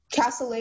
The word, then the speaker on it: cassoulet: Cassoulet is the only pronunciation.